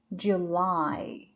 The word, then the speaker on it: July: on the second syllable the answer would be July that's the first one July so the stress is on Li which is the second syllable the other one is